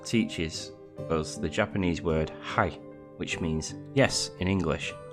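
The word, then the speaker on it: はい: to pronounce it properly this word sounds like hi oh hi however remember the eat sound i.e at the the word height is actually pronounced ha e ha e so height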